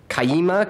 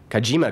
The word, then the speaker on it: Kajima: wlc architects in Rancho kukamonga California did I pronounce that right kukamonga and 10 years practice with kayima Corporation kajima Corporation thank you in Tokyo Japan he spent